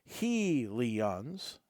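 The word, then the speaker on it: Helion: of fire Helens and even gives a pronunciation guide for the first time in this group hel Leons yep are native to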